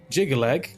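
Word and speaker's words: Jyggalag: Jigalag consists of three heavy syllables with hard consonants. The rigid pronunciation almost sounds like you're hammering the syllables into place, quite on theme with the unforgiving god of order.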